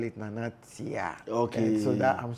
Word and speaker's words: Nana Tea: Meaning Nana T. I feel like spelling it T-E-E will be easier for people to pronounce it.